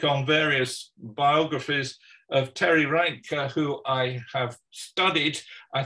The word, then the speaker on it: Reintke: as you like but i would say it's reindeer and so it's a lot of hard german um consonants so i get it